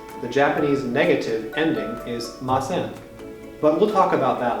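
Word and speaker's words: ます: things that you did why do we write it m-a-s-u and pronounce it like mas sometimes the sounds u and e in japanese words are not pronounced very strongly this is particularly common at the end of words and after unvoiced consonants like s we do it in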